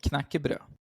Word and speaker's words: knekkebrød: You actually pronounce it pretty well. Knekkebrød.